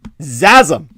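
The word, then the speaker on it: XASM-3: certainly lead uh and it's pronounced zazum you can't get better than that x azim like orgasm uh so we're talking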